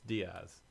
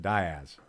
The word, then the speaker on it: Diaz: Yeah, It's Diaz. but in Arkansas it's pronounced Diaz. So Diaz.